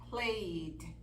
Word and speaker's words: played: Played, lived, worked, answered. Entonces, fíjense cómo la letra E es muda por ahí.